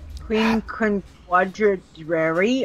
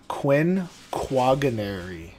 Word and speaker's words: quinquagenary: Happy quinquadrary. I can't even say it. Yeah. Queen. Yeah. How do you say it again? Quinquagenary.